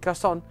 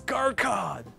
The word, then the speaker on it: garçon: Anyway, garçon, one cup of your finest red tea then. May I take this seat at the counter? I read that as Garcon! Garcon, I know, but it's pronounced you garçon.